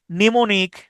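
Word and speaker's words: mnemonic: তারপর হচ্ছে নেমোনিক। হ্যাঁ। নেমোনিক বানানো প্রথম এমটা উচ্চারিত হয় না।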